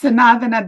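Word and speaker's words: Sanatana: the the full word for the Dharma the sun tintana Dharma how do I pronounce that it's sanadana Dharma yes sign tonight oh we can't get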